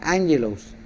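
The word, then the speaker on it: ἄγγελος: la palabra mensajero es la palabra griega ángelos pronunciada angelos la cual es traducida ángel o mensajero en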